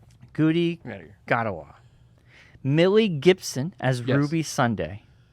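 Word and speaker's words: Ncuti Gatwa: Kuti Gadawa? Kuti Gadawa? Ncuti. Yes. But it's I don't even think you pronounce the N. Kuti Gadawa.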